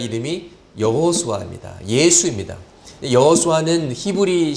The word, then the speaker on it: 여호수아: 땅으로 인도하는 지도자의 이름이 여호수아 합니다 예수 입니다 여호수아는 히브리 씩 발음 이구요 예수는 헬라어 시 바랜 인 것이죠